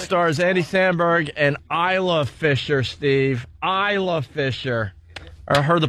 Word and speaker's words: Isla: stars andy samberg an Isla Fisher steve Islafisher Heard that promo million times and Its LaFisher This is silent in her name.